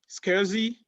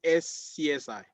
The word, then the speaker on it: SCSI: types and these are the four different types scuzzy and if we go back up here on wednesday i said please don't pronounce it s csi the pronunciation is casey and if we go